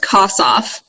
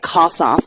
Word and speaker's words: Kossoff: It's just as if you were to cut it in, not in half, but like the Kos and then off.